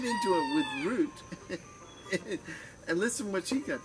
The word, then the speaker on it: Rut: But today's video, her name is Root, by the way. It's spelled in Norwegian, R-U-T, or in Hebrew, R-U-T, but it's pronounced like the root of a tree, root.